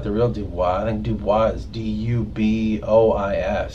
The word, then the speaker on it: Dubois: Even though it's not spelled like the real Dubois. I think Dubois is D-U-B-O-I-S.